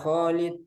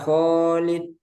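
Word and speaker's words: خالد: enggak dikurangi misalnya nanti ketika memanggil Kholid Kholid khnya dua harakat ya Kholid nah ketika memanggil itu ee dibacanya dua harakat ya Kholid bukan ya khid Nah itu lebih jadi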